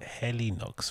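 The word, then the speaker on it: Helinox: pata palin singing with helinics hello knox how you pronounce it helly knox right h-e-l-i-n-o-x for a packable chair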